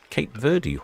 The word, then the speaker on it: Cape Verde: And overnighting in Cape Verde or Cape Verd or Cabo Verde, depending on which department from the BBC pronunciation department you have.